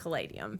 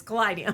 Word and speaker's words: Kaleideum: cadium for pronunciation purposes okay yeah people do pronounce it cadium but it's not cadium it's cadium cadium did I have I been saying C